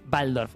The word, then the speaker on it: Waldorf: Pero, factor importante sobre el que quiero detenerme, fui a un colegio Waldorf, se pronuncia Waldorf.